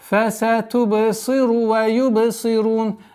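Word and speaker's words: فَسَتُبْصِرُ وَيُبْصِرُونَ: Фасатубсиру ва юбсирун. Обратите внимание, чтобы буква вау не была долготой продолжения даммы. Фасатубсиру ва юбсирун.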